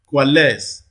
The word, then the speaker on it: coalesce: that is knees okay what about coalesce the last syllable receives the primary stress here and then look at